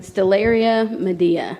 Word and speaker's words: Stellaria media: Stellaria medea.